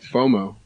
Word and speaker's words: FOMO: FOMO.